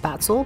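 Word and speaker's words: Spätzle: their stuffed schnitzel with sputzler by the way i've always heard it pronounced spatzle but then i just googled it and found a bunch of videos with how i pronounced it the first time so another thing i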